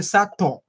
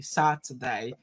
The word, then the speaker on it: Saturday: you get it saturday many people say sato that is way too strong you don't say so like american saturday so sad today saturday very good very good